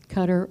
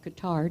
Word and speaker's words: Qatar: Singapore directly to Doha, Qatar or Qatar, depending on how you want to pronounce it.